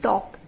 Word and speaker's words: talk: english like we write talk t-a-l-k in english but the letter l is silent there but we still write it but we don't pronounce it but in shorthand we